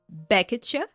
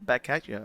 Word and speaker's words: back at you: of words back at Kristoff pronounces it as one word beacha what is that yeah